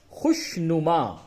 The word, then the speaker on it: خوشنما: خوش، واو نہیں پڑھا جائے گا، اس جگہ پہ واو نہیں پڑھا جائے گا. خے شین پہ خوش، نون پہ شنو، میم الف زبر ما، خوش نما. واو لکھا جائے گا لیکن اسے پڑھا نہیں جائے گا.